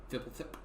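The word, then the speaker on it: Fblthp: Fibblethip.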